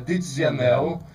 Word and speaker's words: Ticianelli: Na realidade a pronúncia era Tizianelli, mas já foi aportuguesado para Cianelli.